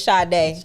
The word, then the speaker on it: Sade: It's Sade. But yeah. You got it right. Oh, same thing. That's my pronunciation based on my Google name.